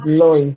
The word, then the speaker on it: Lois: The name is Lois. Okay, is it Lois? The pronunciation is Lois.